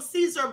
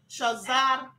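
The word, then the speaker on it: Cesare: We call him Caesar Borgia. That's how we've been pronouncing it. But it's actually Cesar Borgia.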